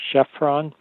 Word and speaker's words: Khafra: Khafra, also known as Chephren. Depends on how you want to pronounce it. No one really knows how they pronounced it in ancient times. Khafra is probably closer to their correct pronunciation.